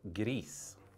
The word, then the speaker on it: gris: This actually means to fluke a ball, and we pronounce it in Norway as gris.